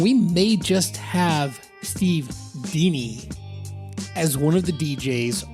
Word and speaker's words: Dini: Now, I need to correct something real quick, and that is that Steve doesn't pronounce his last name Dini like I do, D-I-N-I, Dini. He pronounces it Dini.